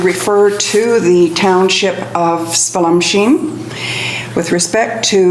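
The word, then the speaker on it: Spallumcheen: I was asking for confirmation of the pronunciation. Spell machine. Spallum-Sheen.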